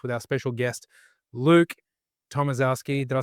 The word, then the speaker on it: Tomaszewski: Uh, Tomvski, but Tomvetski or not an easy one.